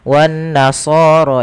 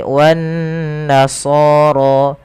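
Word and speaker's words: والنصارى: Kemudian pada lafal sha dan ra di sini tidak dibaca wan nasara ya, tapi wan nasara.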